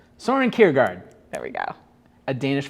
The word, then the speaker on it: Kierkegaard: hope is passion for the possible oh soren kiergander i butchered that a danish philosopher soarin kierkegaard kierkegaard what is it cure guard soren kiergaard there we go a danish philosopher so i